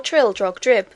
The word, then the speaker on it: Trildrogdrib: It contained a warrant for conducting me and my retinue to Traldragdub, or Trildrogdrib, for it is pronounced both ways as near as I can remember, by a party of 10 horse.